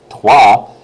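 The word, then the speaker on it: trois: a sentence like my name is Bob and twah you're going to know it's going to be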